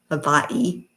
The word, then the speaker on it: Hawaii: It's all Hawaii. Havaii, if you want to pronounce it correctly.